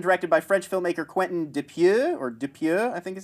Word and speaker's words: Dupieux: We got the teaser for Rubber, which was written and directed by French filmmaker Quentin Dupieux, I think is how you pronounce it.